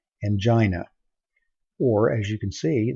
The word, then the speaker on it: angina: this word and hopefully you'd say something like angina or as you can see there's an alternative pronunciation in your book and Jenna and I